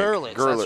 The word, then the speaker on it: Gerlitz: Gavin Gertzlitz. Is that how you say it? Gertzlitz? Is that how they were saying it? I think so. Gerlitz, I think. Gerlitz, that's right.